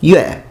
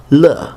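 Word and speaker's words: 乐: These are characters which have bifurcated through semantic drift, meaning that this character here can mean both music, pronounced yue, and pleasure, pronounced le in Chinese.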